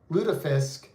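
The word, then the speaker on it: lutefisk: Um, le says loot lutfisk pronounced luda ludafisk is is it really a Minnesota thing?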